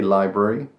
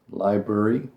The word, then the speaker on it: library: When you start saying that word faster, it gets a bit condensed. Library. Library. You can say library, library, but generally, when you're not thinking about it, English people will just say library.